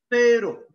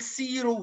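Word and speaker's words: cero: فيرو حرف الفي، في ما ينفعش اقول سيرو وسيرو، بطلع طرف لساني.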